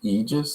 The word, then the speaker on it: Aegis: yeah and it's pronounced aegis so the a is silent and i was trying